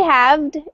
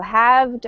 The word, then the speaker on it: halved: has you could say halved just depending on your pronunciation okay either way that l is silent so halved or halfed okay perfect